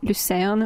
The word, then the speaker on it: Lucerne: We did Lucerne or Luzern, depending on how you say it, which is just like an hour away or so, south of Zurich.